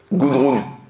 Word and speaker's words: Gudrun: N à la fin. Gudrun.